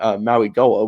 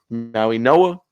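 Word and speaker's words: Mauigoa: The the G is silent. It's actually an N, which is we and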